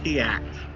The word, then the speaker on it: Tiax: I believe the correct pronunciation of the gnome is Tiax.